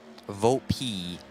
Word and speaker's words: Volpe: Volpe, we have been told to pronounce it. Not Volpe, Volpe.